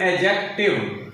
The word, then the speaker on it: adjective: Right pronunciation of this word is एडजेक्टिव। एडजेक्टिव, डी डा sound is silent.